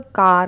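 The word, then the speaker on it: car: कार बोलते हैं हम लोग, कार। कार, तो कार नहीं बोलना है, इट्स का। खा। क पे थोड़ा सा आप स्ट्रेस देंगे, स्ट्रेस मतलब दबाव देंगे।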